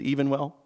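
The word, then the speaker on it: Evenwel: Evan well versus Abbott now you may hear it referred to as even well that may be actually the pronunciation of sue Evan well the plaintiffs name but I have vowed never to pronounce it as even well because as you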